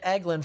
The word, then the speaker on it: Eglin: It's pronounced Eglin. Interesting. All right, well, I'll start pronouncing it Eglin from now on.